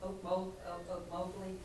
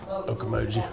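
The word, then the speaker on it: Ocmulgee: If they drop that bill in 2025 and put that national park, is it Oak Mowgli? I'm saying it wrong. Okomoji.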